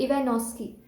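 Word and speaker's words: Ivanovsky: now इसकी discovery discovered by इवानोस्की, इसे pronounce किया जाता है इवानोस्की, इसमें वी साइलेंट।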